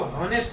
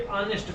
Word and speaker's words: honest: Pronunciation जब इसका हम करेंगे तो इसको हॉनेस्ट नहीं पढ़ेंगे, ऑनेस्ट पढ़ेंगे।